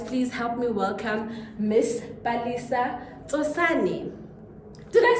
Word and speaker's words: Palesa Tsosane: Guys, please help me welcome Miss Palesa Tsosane.